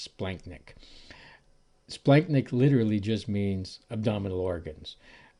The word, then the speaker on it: splanchnic: abdominal organs is called the splanchnic circulation it's pronounced splenic splanknick literally just means abdominal organs uh so it's